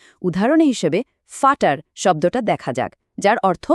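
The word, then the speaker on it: Vater: ইংরেজিতে যেটা V, German ভাষায় সেটি এফ বা বাংলা ফ এর মতো বেশ তীক্ষ্ণ একটা সাউন্ড দেয়। উদাহরণ হিসেবে ফাটার শব্দটা দেখা যাক, যার অর্থ বাবা। ইংরেজিতে আমরা হয়তো ভাটার পড়তাম, কিন্তু জার্মানের সঠিক উচ্চারণ হবে ফাটার।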